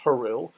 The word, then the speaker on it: Haru: So day could be written with a sun sign, pronounced Haru, or you can actually write out the word Haru with the needed signs.